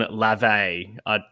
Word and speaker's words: LaVey: the spine of Church of Satan founder Adam LaVey. Anton LaVey. The guy from Maroon 5. Yeah. I think I said that because that's what I thought of when I read it. It's Anton LaVey.